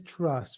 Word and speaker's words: Truss: It has been a gloomy week on the sunlit uplands of sovereign Britain, as we learned exactly why Liz Truss rhymes with mistrust.